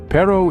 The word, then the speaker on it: perro: Spanish speaking country soon when you say Perro make sure to roll your RS just a little it's a classic Spanish